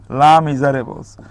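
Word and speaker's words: Les Misérables: হ্যাঁ, হু ইজ the author of লেস মিজারেবলস, এটাকে আসলে বলা হয় লা, এটা উচ্চারণটা হবে লয়াকার লা, লা মিজারেবলস।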